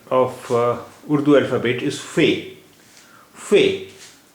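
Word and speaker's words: ف: 26th letter of Urdu alphabet is Fe. Fe. It is pronounced like F in fat. Its sound is similar to F in English.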